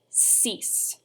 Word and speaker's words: six: pronounced exactly the same the i in the french language is pronounced like the letter e so we get cease try it for me sis from the top cease